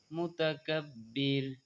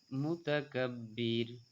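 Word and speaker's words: مُتَكَبِّر: আজিজুল জাব্বারুল, জাব্বা একালিফ টানতে হবে, জাব্বারুল মুতাকাব্বির, মুতাকাব্বির, কিন্তু আমরা বলি মোতাকাব্বির, মোতা নয়, মুতা বলতে হবে, কারণ আপনার পেশে উকার পড়তে হবে, আরো সুকার পড়তে হয়।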